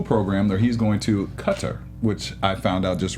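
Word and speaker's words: Qatar: it's not it's not guitar guitar some people say guitar but they actually said that's very far removed from being the right way to say it so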